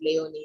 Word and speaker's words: Laoni: It's pronounced Laoni, but I know Americans call it Leone. So whichever works.